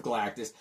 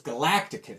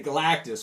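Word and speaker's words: Galactus: to that character and I misread it as a young boy and I thought it was Galacticus so it's very hard for me to say galatis without mispronouncing ounc in his name this is great cover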